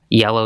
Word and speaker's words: YLLW: Yellow, Yellow, Yellow, that's on there. It's spelled like YLLW, etc.